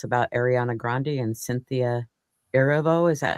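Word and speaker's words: Erivo: So, I'll let you go and tell us about Ariana Grande and Cynthia Eravo. Is that how you say her name? Arivo.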